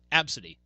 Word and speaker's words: Abcde: The child's name was Absidy. That's how you pronounce the name. I saw that. Yes, and you spell the child's name A-B-C-D-E.